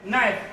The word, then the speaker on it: knife: It's not like English that they will try to write you knife with maybe K, this thing, knife, and they will tell you that the K is silent.